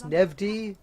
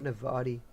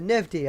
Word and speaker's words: Nevdi: But yeah, at this moment, I'm just being told how to pronounce Nevdi. The Nevdi, not Navadi. The Nevdi. I don't know why I say Navadi. So it's Nevdi. My mistake.